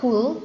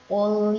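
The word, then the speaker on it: قل: Artinya katakanlah, tadi katakanlah kalau dibaca kul pakai kaf jadi makanlah, ya. Katakanlah Muhammad, wahai orang-orang kafir. Bareng-bareng ya. 1, 2, 3. Qul ya ayyuhal kafirun.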